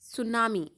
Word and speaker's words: tsunami: here we we read we will read this सुनामी द T will be silent okay in this unit